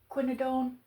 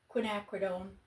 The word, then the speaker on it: Quinacridone: I'm using the colors uh scarlet red with some quinodone. Looking at how to say it. Quinacridone.